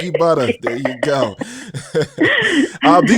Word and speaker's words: Buttah: um c-h-i-k-i-b-u-t-t-a-h you know it's like butter but you know from the east coast so you gotta say it like brooklyn style you know butter butter there you go uh